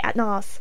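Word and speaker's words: Atnas: Atnis, because it's actually Atnos or Atnis. I don't even know. Look, I'm calling him Atnis and leaving it there.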